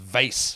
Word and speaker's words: vase: I was just getting myself out of a giant vase. I'm also the lead, that's pronounced vase for you guys in America.